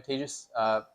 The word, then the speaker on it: Tejas: Hi, I'm Tejas, pronounced like contagious.